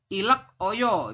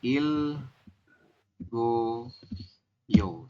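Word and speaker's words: 읽어요: Kemudian ada lagi di sini sampingnya itu kalimatnya adalah ilak oyo, itu tulisannya, tapi kita membacanya hanya il. Oke. Setelah il, iya betul, il goyo seperti ini. Apa yang berubah? Yang berubah adalah gioknya naik ke iyang ya. Il goyo seperti ini dibacanya. Silakan diisi ya, Robun, di buku Anda.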